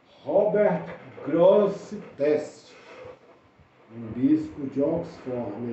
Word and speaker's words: Grosseteste: É o bispo Robert Gressines. Vou conferir aqui a pronúncia, mas é Robert Grosseteste, um bispo de Oxford, na Inglaterra, na época medieval.